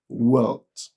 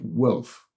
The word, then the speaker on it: wealth: They pronounce it as wealth instead of wealth. And the reason being that that sound, it is not present in our mother tongue. It is not there in our local languages.